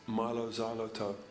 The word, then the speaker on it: Mylo Xyloto: about our new album is pronounced mylo xyloto like xylophone but you can do